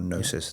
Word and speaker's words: gnosis: Or gnosis, they often translate it as. With a silent G, whereas in English it's a silent K.